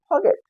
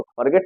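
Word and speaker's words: forget: अब इसको क्या पढ़ेंगे अगर इस आर को साइलेंट कर देते हैं इस आर को साइलेंट कर देते हैं तो इसको पढ़ेंगे हम फगेट फगेट क्या पढ़ेंगे फगेट तो फॉरगेट का मतलब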